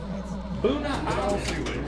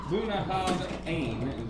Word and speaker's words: Bunnahabhain: 2x, Bunnahabhain is how you pronounce that. Bunnahabhain.